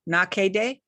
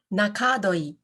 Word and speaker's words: Nakadoi: you too um and i tried an online pronunciation and they said your last name is nakede oh my my last name is nakadoi oh you say that